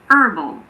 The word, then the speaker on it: herbal: So in American English, these words are herb and herbal.